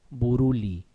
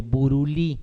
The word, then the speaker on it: Buruli: propio como se llaman úlcera de buruli o de buruli para los que quieran